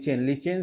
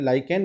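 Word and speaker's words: lichen: से प्राप्त होता है, जिसको कि अपन जनरल सामान्य भाषा में लाइकेन बोलते हैं। लाइकेन से प्राप्त होता है। ठीक है, हम चूँकि हमारी बुक में इसका प्रोनाउंसिएशन लीचेन है और इंग्लिश में भी इस तरह, तो हम इसको लीचेन ही बोलना। ऐसा ओरिजिनल प्रोनाउंसिएशन इसका है लाइकेन।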